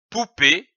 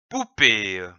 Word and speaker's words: poupée: accent aigu e P ou ici on peut prononcer le mot comme poupée ou poupée une épée e accent aigu et PE e